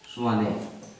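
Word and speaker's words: Tshwane: है नाम है स्वाने इंग्लिश में टी लगा देते हैं स्वाने एसस के पहले टी साइलेंट हो जाता है स् दक्षिण अफ्रीका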